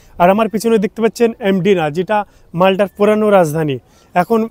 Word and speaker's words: Mdina: খেলার জন্য তো বন্ধুরা এটাকে ইংলিশে বলে এমডি না আর বাংলায় যদি উচ্চারণ করেন তাহলে হবে মদিনা প্রথমে আমি শুনে অবাক